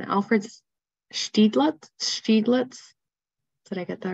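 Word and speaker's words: Alfred Stieglitz: And thanks for the pronunciation. Alfred Steiglitz.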